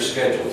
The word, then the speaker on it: schedule: day maybe what's your schedule today what's your it's pronounced as if it were a k SCH schedule schedule schedule looks like it should be schedule yeah my schedule is